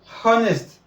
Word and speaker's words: honest: Just like saying honest. There's no sound for H in honest, no sound for H in hour, no sound for H in honor.